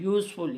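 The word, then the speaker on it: useful: sound दे रहा है यूजफुल ये भी यू का साउंड दे रहा है यूरोपियन ये भी हमें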